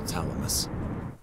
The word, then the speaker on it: Thalamus: Every dictionary I've ever looked in pronounces the TH in Thalamus. I have to tell her about my path to Thalamus.